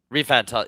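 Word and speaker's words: ReFantazio: Refantasio.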